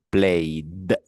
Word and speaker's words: played: Vale, fíjese entonces, como sí vibran las cuerdas vocales, usted lo pronuncia played. Played. Vale, como si fuese una D.